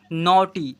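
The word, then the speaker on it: naughty: Cause यहां पर एन ए यू जी एच टी वाई इसे पढ़ेंगे नॉटी।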